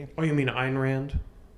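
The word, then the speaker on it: Ayn Rand: Oh, you mean Einrand? Yeah. Sorry, I mispronounced that, but you know what I'm talking about.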